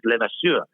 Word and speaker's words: LeVasseur: The French pronunciation is LeVasseur, and people could never pronounce it.